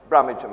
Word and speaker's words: Brummagem: And one of the places I went to, following the old peg leg around England, was Birmingham, Brummagem as they pronounced it.